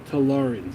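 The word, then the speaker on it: Tallarn: It's the Tarens. Tarens, even though it's it's spelled like Terarins.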